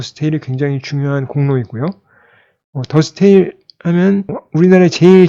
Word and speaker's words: De Stijl: 바로 더 스테이지 입니다 데스티 라고 보통 많이 발음을 하는데요 4l & 발음은 더 스테일 이라고 발음을 한다고 하구요 그리고 있게 실제로 주안